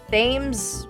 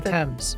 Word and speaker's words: Thames: His body was coated with tar and suspended in chains from a gibbet at the mouth of the Thames. The Thames. I'm sorry, you said what? The Thames.